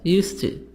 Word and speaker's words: used to: D is silent in used to.